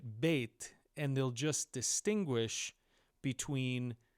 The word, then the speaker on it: Bet: Now, as for how to pronounce this letter, some people will say we call it vet with a V when it doesn't have the dages. Most people will still call it bait and they'll just distinguish